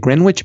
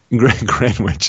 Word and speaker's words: Greenwich: G grenwich is it greenwitch meantime GMT gr Greenwich meantime the the W is silent yeah grenwich it's like sandwich exactly just like sandwich okay between 5 and 6:30 p.m.